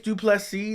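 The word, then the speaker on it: Du Plessis: whole different situation tricus duplex C the S is silent for Savage okay which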